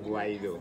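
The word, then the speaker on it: Guaidó: Guido or Guaido? Guaido. Guaido. escalation.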